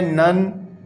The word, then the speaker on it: none: अच्छा, फिर उसके बाद आप आ जाए नन, NONE, नन। तो इसमें भी लास्ट वाले ई को हम प्रोनाउंस नहीं करते।